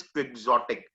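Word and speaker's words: Don Quixote: Unreal ideology मतलब practically जो बात ना करे, इधर उधर की बात करे, दैट इज क्विक्सोटिक। ये वर्ड जो आया है ये आया है डॉन क्योटे।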